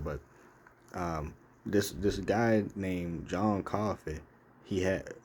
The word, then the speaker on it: Coffey: I didn't know it was supernatural, but this guy named John Coffey, he had it's like the drink, but it's not spelled the same.